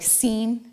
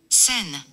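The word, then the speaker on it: Seine: the United States they would call it like scen that's the scen river but they actually pronounce it sin sin sin River and again you know what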